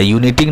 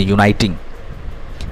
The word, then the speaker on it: uniting: एंड फॉर यूनाइटिंग the states of America, यूनिटिंग नहीं पढ़ेंगे इसको पढ़ेंगे यूनाइटिंग।